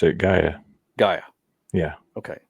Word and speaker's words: Gaia: Gaia. Yeah. Okay. So the AI makes the I sound normally. So we'll call it Gaia.